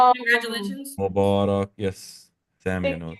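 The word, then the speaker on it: مبارك: The Fusha, the formal word is Mubarak. But we Yeah. pronounce it, we just say, we have our own dialect slang. Mabruk or Mubarak, it means congratulations.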